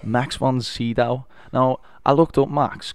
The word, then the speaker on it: von Sydow: Max von Sydow. Max von Sydow.